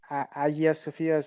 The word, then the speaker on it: Hagia Sophia: you come back to Hagia Sophia a year Sophia's some people pronounce it here there's a